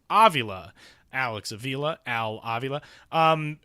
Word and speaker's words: Avila: Alex Aila, his dad, the GM of the Detroit Tigers, pronounces their last name Avila.